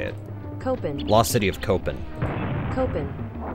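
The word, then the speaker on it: Copán: on your end but I'm Googling this copen copen that's how you say it copen lost city of copen copen copen a city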